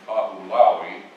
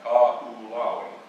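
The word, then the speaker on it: Kahoʻolawe: You have to go out to a little island named Kahulaui. Look it up on the map, Kahulaui. You know, it's interesting because those languages over there, every vowel is pronounced.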